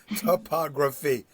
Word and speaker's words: topography: Topography. 4 syllables.